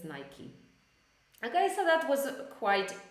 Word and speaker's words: Nike: not Nike but Nike or not definitely not Nika which I pronounce this as Nica as uh when I